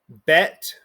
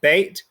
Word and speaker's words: bet: makes the sh sound bet or some people pronounce it bait makes the ba sound and tov makes the